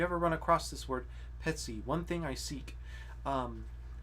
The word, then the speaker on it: Petii: ce so the um because the accent is on the e chant always uh puts the accent in for us uh the accents on the e that makes the t soft and you wanna